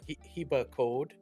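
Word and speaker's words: Hibakód: is from Hungarian so he hea Cod uh would be like how it's How It's pronounced in Hungarian and it just means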